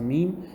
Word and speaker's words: meem: And the second thing that happens when we pronounce a meem is that there is a nasal sound, a ghunnah.